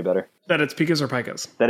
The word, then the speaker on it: pika: you feel any better about it speakers are pikas that it's pikas i've been saying it wrong for literally over a decade well there you go yeah so it is definitely Pecos yeah Pecos RA lagomorph mammal it's a bunny